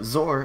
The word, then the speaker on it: XOR: explain what zor is so zor is spelled x o r and it stands for exclusive or um so for example